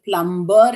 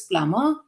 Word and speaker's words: plumber: Remember, when M and B come together in a word, the B is not pronounced.